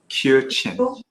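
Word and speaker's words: Kiều Chinh: cute can you can you give the correct pronunciation of your name I just want to make sure I got the yogi kyo-chan you were born in Hanoi right can you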